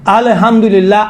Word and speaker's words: الحمد: انشاءاللہ آئندہ تیار رہیں، نہیں کہیں، الحمدللہ، یہاں پر کیا ہے؟ قلقلہ نہیں ہے، قلقلہ دنیا میں فقط